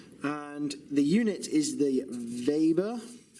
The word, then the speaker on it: Weber: And the unit is the Weber. I might think that says Weber, but it's pronounced Weber.